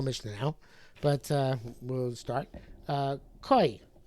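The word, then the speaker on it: כוי: Koi. So when I was younger, I used to say kvi, but I think the proper pronunciation is koi, and the article which has the nukudos tells us proper pronunciation is koi.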